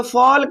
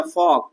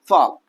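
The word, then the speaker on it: folk: कि अगर के से पहले एल आ जाता है। के से पहले एल आ जाता है तो एल क्या होता है? साइलेंट होता है। क्या होता है? साइलेंट होता है। तो फॉल्क नहीं पड़ेंगे। क्या पढ़ेंगे भैया? फोग।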